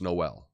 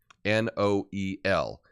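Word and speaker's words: Noël: Think of Noel, right, for Christmas in French, right? You know, the first Noel, right? Noel. The two dots, right? The diaresis over the E is to separate it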